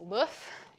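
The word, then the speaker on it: LOEUF: more recently we released LOF is which is pronounced like the egg in French uh not my call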